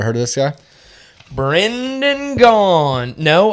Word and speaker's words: Gaughn: Brendan Gaughn. No, I know a Spencer Bond, though, that kind of rhymes with Gaughn.